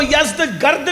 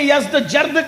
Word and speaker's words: یزدگرد: یزدجرد، اس کو یزدگرد بھی کہتے ہیں ایرانی لب و لہجے میں. عربی میں یزدجرد کہتے ہیں.